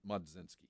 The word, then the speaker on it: Mlodzinski: Silent L, maybe? Carmen Mlodzinski? Is that L pronounced or is it Mlodzinski? Mlodzinski.